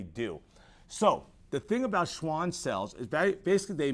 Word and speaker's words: Schwann: so that's actually pronounced Schwann cells this is actually sounds like a V but because we're in America we're going to use the W sound to call them Schwann cells but let's go